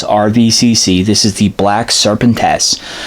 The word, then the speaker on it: Serpentes: this is the black serpent s I'm sure somebody's gonna say I'm probably pronouncing it wrong but from when I looked up on Google Translate serpent tests that's how you say it that's the way it's